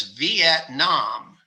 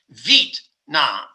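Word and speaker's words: Việt Nam: of the country which a lot of americans pronounce as vietnam because it's spelled v-i-e-t and we would say v-at and that's two syllables but the vietnamese pronounce their name of their country vit nam because they don't have two syllables in v-et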